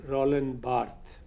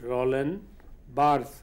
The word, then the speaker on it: Roland Barthes: The ones who have had influence on literature, the most important name is Roland Barthes, R-O-L-A-N-D, D again is silent, Roland Barthes, B-A-R-T-H-E-S.